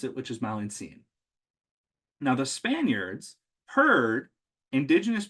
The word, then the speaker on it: Malintzin: best way they could figure out how to pronounce it, which is Malintzin. Now, the Spaniards heard indigenous people calling her Malintzin, and they figured that must be her original name before she took the name Maria.